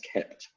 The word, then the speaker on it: kpt: that does this called kept let me show you that there it is there's a tool called it's spelt kpt but pronounced kept and it's a little